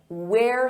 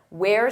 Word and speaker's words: We're: We're students. Notice that pronunciation. Where? We're students.